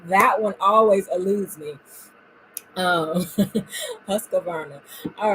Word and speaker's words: Husqvarna: I Husqvarna, thank you very much. There shouldn't be a sewing machine that I don't know how to say the name of, but that one always eludes me. Husqvarna.